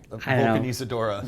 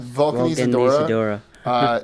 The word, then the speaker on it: Vulcanizadora: Vulcanizadora. Vulcanizadora.